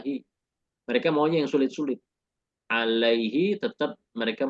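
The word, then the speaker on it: عليه: kemudahan dalam mengucapkan ainii makanya ketika ada kata ala menjadi Alaihi he ya dibaca Alaihi kasrahnya itu bukan karena dia majrur dengan ala ini juga bukan Karena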